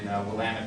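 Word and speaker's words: Willamette: uh produced Wines in wamit Valley in Oregon um and if it doesn't rhyme with damit you didn't say wamit right just so we can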